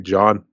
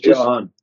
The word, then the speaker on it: Johan: Is it meant to be John? No, it's Johan. Yeah, Johan. I guess it's the Swedish version of John, but it's like it's just Johann Sebastian Bach.